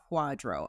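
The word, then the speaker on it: QDRO: right well then there's something called a Quadro and that's spelled with all capital letters QD r o and we say Quadro I want to talk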